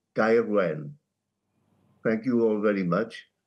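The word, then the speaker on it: Gaerwen: As a South Walian, I would call it Gairwen.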